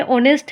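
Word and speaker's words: honest: यहां पे ऑनेस्ट है, एच है। लेकिन हम लोग एन का यूज़ किए हैं क्योंकि ऑनेस्ट हमारा प्रोनाउंसिएशन जो होता है वो ए से होता है।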